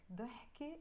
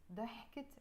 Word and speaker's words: ضحكة: ضحكة is a laughter. You don't usually pronounce the ت مربوطة, the T sound. But because again it's followed by another noun, you will pronounce it. ضحكت عينيك, the laughter, ضحكة,